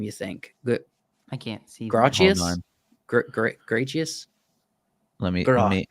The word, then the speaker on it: Gracchus: Gratius? Hold on. Gratius? Let me full scene it. Gracchus. Gracchus is Gracchus, I believe, was his name in the previous movie.